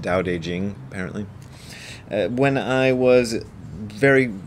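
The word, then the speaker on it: Tao Te Ching: even though it's spelled tau tae ching it's pronounced daodejing apparently when i was very first starting to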